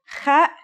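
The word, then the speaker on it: خ: Kha is a sound some people make when they laugh. It's also similar to the sound people make when they snore.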